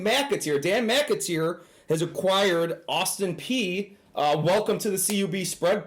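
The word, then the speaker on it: Austin Peay: But if they don't move that back right here, we can always see Austin P moving on as well. I'm actually shocked you got the pronunciation of Austin P correct.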